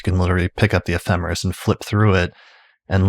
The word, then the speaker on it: ephemeris: But I think we're talking about it, in our working pronunciation is ephemeris, and the plural is ephemerides, although I've also heard ephemerides, but I don't think that's the correct pronunciation.